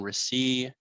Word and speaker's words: Resley: I'm Resley. Last name is pronounced Receipt without a T.